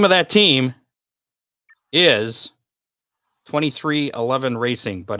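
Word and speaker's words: 23XI Racing: of that team is 23 11 racing but it looks like 23 and then roman numeral xi for 11.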